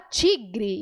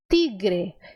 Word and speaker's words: tigre: transformam em ti ti então o brasileiro fala tigre enquanto no espanhol nós dissemos tigre tigre porque no espanhol a letra T é sempre suave suavezinha então biscoito assim que